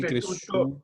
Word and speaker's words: cresciuto: La SCIU se pronuncia shu. Desaparece la I. ¿Ya? Entonces, al final esto es así.